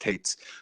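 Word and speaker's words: Toetz: Tate's it's spelled t OE TZ apparently it's pronounced Tate's he'll replace K Piniella I guess who then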